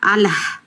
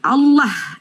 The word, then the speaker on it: Allah: yang tidak pandai membaca double l kau baca Alah Alah padahal double l Allah l Allah I kan saya minta Salah